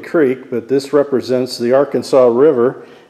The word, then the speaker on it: Arkansas: I'm just calling this Crooked Creek, but this represents the Arkansas River, or as we pronounce it here, the Arkansas, in western Kansas.